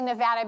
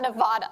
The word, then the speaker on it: Nevada: little state that could nevada and i say nevada because i'm from the west coast and that's how we pronounce nevada not nevada like everybody on the east coast uh and